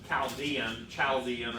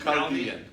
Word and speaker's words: Chaldean: Chaldean. Huh? Chaldean, a hard CH, yeah.